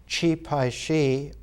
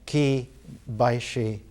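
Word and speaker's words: Qi Baishi: last uh 300 years and his name is chi pai shi or as it's pronounced now ki baishi most of the artists that we're taking are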